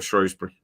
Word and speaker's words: Shrewsbury: How do you say Shrewsbury? Is it Shrewsbury or Shrewsbury?